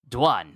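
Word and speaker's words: Dwun: It was with a silent W.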